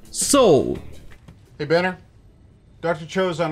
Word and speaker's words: Seoul: D'ailleurs, c'est aussi la prononciation en anglais de la ville Séoul, la capitale de la Corée du Sud. Seoul.